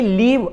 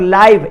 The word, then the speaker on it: live: Similarly लीव LIVE ये verb के रूप में है, और लाइव LIVE स्पेलिंग वही है, लेकिन लाइव यहां पर एडजेक्टिव है, जैसे लाइव टेलीकास्ट बोलते हैं।